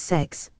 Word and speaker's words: CeX: forward slash games retailer whose name is pronounced as sex I've miss cex excellent